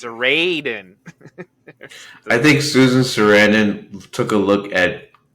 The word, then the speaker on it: Sarandon: Of course, someone's going to tell me, you have to pronounce the A long. It's Sarandon.